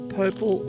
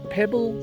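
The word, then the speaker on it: Poeppel: to PPP Corner yes it's p not purple or pople it's PE just like Pebble but with peas Pebble was Prussian and that's how he pronounced his name so we went out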